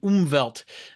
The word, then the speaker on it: Umwelt: uses it's called an umelt Uh u m w l t but the W is pronounced like a V or like two v's together um and basically the